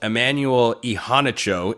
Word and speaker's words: Immanuel Iheanacho: Emanuel Ehanicho is how uh he told Pat McAfee on ESPN. He pronounces his name, five-star offensive tackle.